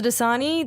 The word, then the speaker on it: Dosani: And I'm Dasani. That is spelled.